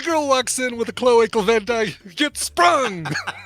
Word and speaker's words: cloacal: by the way i got corrected on the pronunciation cloacal vent cloacal vent cloacal vent luke just shoot